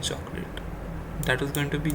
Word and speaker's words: chocolat: Now you need to understand that in French they do not cannot pronounce ch, so it's pronounced as sh. So it's going to be nous n'aimons pas de chocolat.